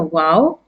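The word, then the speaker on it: واو: lips by opening them as in English you say wow w o w as you say wow in English it's the same pronunciation for the Arabic letter wow as you can see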